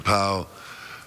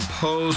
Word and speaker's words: Powe: Leon Powe, or Poe, excuse me for mispronouncing his name.